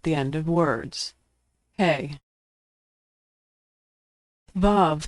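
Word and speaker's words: וו: Vav can be pronounced like the V in victory, the O in home, or the U in moon, which is usually transliterated as U.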